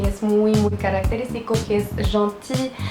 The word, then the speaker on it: gentil: Cuando se dobla la consonante tenemos uno que es muy característico, que es gentil. Gentil es gentil, simplemente que la L no se dice y se dice la I.